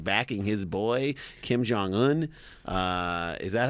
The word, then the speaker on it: Kim Jong-un: he's talking about like like backing his boy Kim Jong-un uh is that how you pronounce that Am I Wrong J Kim Jong-un that's that's right uh he's the guy who